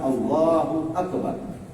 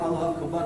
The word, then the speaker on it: Allahu Akbar: lagi yang pertama mengucapkan Allahu Akbar ucapan Allahu akbar pun harus benar Allahu Akbar bukan Allahu akbar ada Allahu Akbar salah Allahu akbar ak ak Allahu Akbar Jadi ucapan Allahu akbar pun harus jelas harus